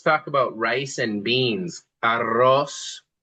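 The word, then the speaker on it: arroz: Aros is rice. Let's try that with the double R curl.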